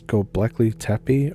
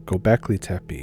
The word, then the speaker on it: Göbekli Tepe: Now, as you may or may not know, I think it's Göbekli Tepe, or Göbekli Tepe is how you say it.